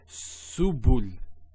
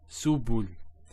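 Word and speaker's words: سبل: So we have, if we break this up, there's a sin with a dhamma. Then there's a ba with a dhamma.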